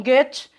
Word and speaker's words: Goethe: Eu falo Goethe, porque eu acho que a pronúncia é essa, né? Alemão, enfim, a gente nunca sabe direito.